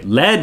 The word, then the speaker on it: lead: Sorry, lead rhymes with bed.